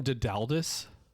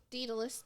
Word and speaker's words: Daedalus: Did you call him Dedaldus? Daedalus Diggle.